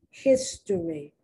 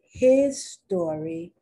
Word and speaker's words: history: History. In certain corners now, they say his story, then they say her story. But the correct pronunciation is not his story, it's history. And it's from Latin.